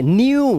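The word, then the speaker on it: new: यहां पर देखिए ई के बाद डब्ल्यू तो डी यू पीयू सी सिलने के लिए न्यू नए के लिए म्यू म्यू म्यू करती है बिल्ली म्यू डी यू फ्यू तो यहां पे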